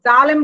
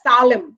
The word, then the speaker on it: জেরুজালেম: মধ্যে নাম্বার 1 হচ্ছে জেরুজালেম। জেরুজালেম, এটার উচ্চারণটা দেখে নেবেন, জেরুজালেম বলা হয় খুব দ্রুত, জালেম বলবেন না, এর আগে আমি শিখেছি, জালেম হবে না, সালেম, মানে এসটা, এর আগের ক্লাসেও বলেছি।